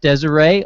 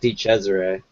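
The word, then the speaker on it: DiCesare: glasses we got Jeff Desiree also known as Jeff for one song guys say your last name write it yet it's pronounced D Cesare D Cesare apologies now it's all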